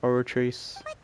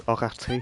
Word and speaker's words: Oratrice: So that's what I like how she's the only one that pronounces the French, like, way of saying it. created by the Archon to make judgments. Whereas everyone else is like, oratrice. And she goes, oratrice.